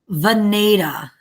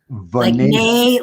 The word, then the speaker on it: Venata: Venata. Venata. Like neigh, like a horse. Okay, Venata.